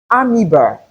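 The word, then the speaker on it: amoeba: So it is pix and not pix and not obi amiba and not amo esophagus and not oopagos.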